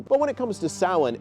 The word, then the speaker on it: Samhain: origins of Halloween are within sin which is spelled samhan which is one of